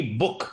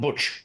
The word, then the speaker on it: Buch: What is Madhavi Puri book? That's the pronunciation, not Butch, book.